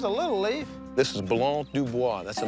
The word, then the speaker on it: Blanc du Bois: This is Blanc du Bois. That's the name of this grape. Blanc de who? Blanc du Bois. It's a wine grape. All these are Blanc du Blancs? Blanc du Bois.